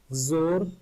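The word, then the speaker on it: XOR: तो शॉर्ट में हम इसको जोर ही प्रोनाउंस करते हैं।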